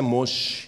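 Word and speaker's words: משה: Moisés em hebraico o nome de Moisés é mochi Oi e o nome de Deus é impronunciável quando você vir na palavra principalmente no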